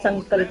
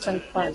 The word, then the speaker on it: Sankpal: ये अपना स्पेलिंग उनको यार ठीक तरह संकल्प बोलते हैं पाली पाली लिखा है ये उनको बोले मैम आई एम नॉट संकल्प आई एम संकपाल सामने मिलके बोलेगा तुम